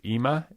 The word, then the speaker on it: Ima: So I want to talk to you about, and forgive me if I'm mispronouncing this, Ima? Yeah, you got it. Okay. Ima.